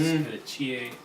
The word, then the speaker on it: petechiae: their teeth, bleeding gums, petechiae, I think it's pronounced. Petechiae. Yes, it's kind of French.